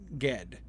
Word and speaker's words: Ged: I am positive that Ged is the mainstream pronunciation of that. Okay, good. Yeah, Le Guin does indicate a hard G for Ged.